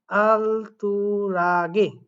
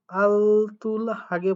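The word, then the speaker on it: 알뜰하게: এখানে একটা নতুন শব্দ ইউজ করছে দেখেন আলতুরাগে, আলতুল হাগে পড়তে পারেন অনেকে, বাট এটার উচ্চারণ হবে আলতুরাগে, আলতুরাগে।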